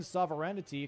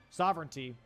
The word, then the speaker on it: sovereignty: Sovereignty. That's the word. Okay. I was like I made it sound fancy. He just he just added an extra syllable in there.